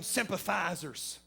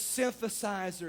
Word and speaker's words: synthesizer: up in them churches playing them sympathizers it's synthesizer it's different than a sympathizer